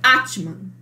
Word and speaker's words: Atman: a transcrição dela aqui, e a transliteração, né, como se fala isso, é Atman.